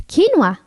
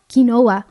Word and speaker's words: quinoa: here yes that grain no one knows how to pronounce it's quinoa not kinoa also farro barley or